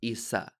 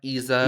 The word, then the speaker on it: Yza: But yeah, I'm gonna say here, my name is pronounced Isa with the S, like Isabella, like Issa Rae. Issa Rae. It's not Yza.